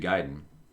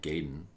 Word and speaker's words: Gaiden: Well, yeah, because we couldn't even pronounce Gaiden correctly. Everybody called it Gaiden.